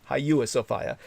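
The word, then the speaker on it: Hagia Sophia: to 1261 looting the hagaya sofa or the hyua the way you would spell it would be hagaya but hyua sofa of its well oh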